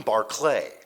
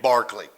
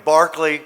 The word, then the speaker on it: Barclay: And if you grow up in Matt Juliet and you say, "Hi, I'm Barlay." You get punched in the head, right? So, I've just always pronounced my name Barkley.